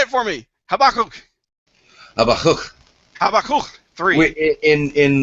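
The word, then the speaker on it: Habakkuk: say it for me habak Hab Hab three in in multicab habic in multicab in multi slabic uh Hebrew words the emphasis is almost always on the last syllable okay in habul 3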